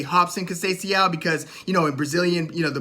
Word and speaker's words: Robson: Brazilian, the Portuguese language, you'll see a lot of people who have like an R in the beginning of their name, but it's pronounced with a H, like Royce Gracie.